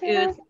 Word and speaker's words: Ouzts: So, and Ouzts is O-U-Z-T-S, and it rhymes with boots.